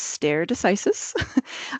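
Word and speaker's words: stare decisis: terrible with the Latin the pronunciation is stere decisis um just so you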